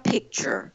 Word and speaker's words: pictures: la palabra por ejemplo la palabra pictures que es fotografía pictures p y c r pictures escuchamos el pick la c si descuidamos es hace esa consonante de repente la palabra es peter ahora esa ron ya